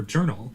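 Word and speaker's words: jurnal: But in this word, for journal, it's going to be pronounced as j. They get it from Russian. Journal. And the reason for this is because this is a borrowed word from Russian, from French.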